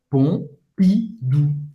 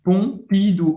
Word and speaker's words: Pompidou: Pompidou. Pompidou. O M tem o som do e o U, a gente já viu, tem o som do U, da letra U em português.